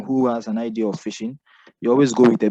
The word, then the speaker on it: phishing: You pronounce phishing as you go to fish, but spelled PH instead of F.